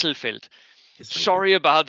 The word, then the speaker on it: Hesselfeld: Yes, Yes, because I continually say Hasselfeld, and that is wrong. and it Yes, is Hesselfeld.